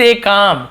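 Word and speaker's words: calm: है आईएफ यदि स्ट कम कम कल में नहीं लिखा हुआ है ल साइलेंट होता है साइलेंट है आईएफ यदि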